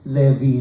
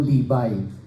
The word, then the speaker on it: Levi: named after the tribe of Levy it is pronounced Levy hindi po libay hindi lib yung gans so Ito po ay